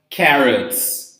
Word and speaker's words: carrots: In this case, it's not essential to the word, so we don't pronounce it. So potatoes, okay? Next one over there, in orange, we have carrots, okay?